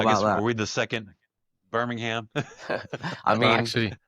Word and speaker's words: Birmingham: Um, maybe some I need you to say I need you to say Birmingham. Okay, sorry. Birmingham. Birmingham. You gota You gotta get the A.